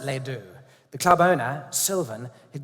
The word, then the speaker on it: Les Deux: Lindsay and I met in a club called Les Deux, spelled like the French do. But the Americans pronounce it Les Deux.